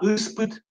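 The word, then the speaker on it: из-под: Не из под, а испыт, испыт, испыт. З оглушается в данном случае, да, испыт. То есть каждое слово, которое заканчивается на З, имеет вариант С.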